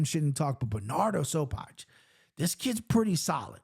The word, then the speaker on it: Sopaj: Sopaj is how you say this.